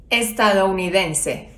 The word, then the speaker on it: estadounidense: no toca el paladar segundo hay dos vocales seguidas o u debes cambiar la posición de tu boca intenta pronunciar esto tallo tallo niden niden ahora por partes es tallo niden c estado miren c estadounidense Cuéntame en los comentarios